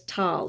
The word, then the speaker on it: Thal: for him neander valley the old german word for this valley was tall t-a-l or t-h-a-l with a silent h 200 years later air